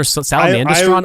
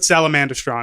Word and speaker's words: Salamandastron: also how do you how do you pronounce the badger Mountain I guess it's Salamon daston or salamandastron I always I always called it salamandastron I thought it was salamandastron too but I've heard people say